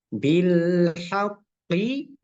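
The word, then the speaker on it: بالحق: dia reflek E pantulannya tapi kalau dia Q tersebut di bertasdidah maka pantulannya seperti ini misalnya bilhaqqi maka cara membacanya adalah bilhaqo bilqq jadi ada jeda sedikit untuk menampakkan sifat atau tanda tasdid yang ketiga yang keempat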